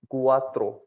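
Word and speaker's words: quattro: क्यू को पढ़ेंगे कू, कू। जैसे एग्जाम्पल लिया मैंने क्वात्रो, कुआत्रो।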